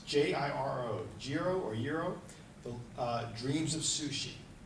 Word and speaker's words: Jiro: And there's a movie out there called, I don't know if I'm pronouncing his name right, but it's J-I-R-O, Jiro, the Dreams of Sushi.